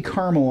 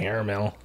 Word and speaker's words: caramel: I'm getting heavy caramel off of Jim's mystery beer. Caramel. Caramel. That's a good stripper name. Caramel? Yeah. Oh. No, caramel, not caramel. Oh, yeah, that's better. 2 syllables, not 3.